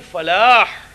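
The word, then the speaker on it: فلاح: With salah, there is no hay. It is only thick hair, hayya ala salah. But when it comes to falah, it is hayya ala falah. That hay must be pronounced and it must be very clear.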